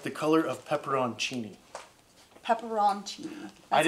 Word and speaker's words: pepperoncini: like the color of pepperoncini pepperoni that's how you pronounce it I didn't realize there was an o-n in there but there is I guess yeah I always said peppercini yeah pepperoncini but it's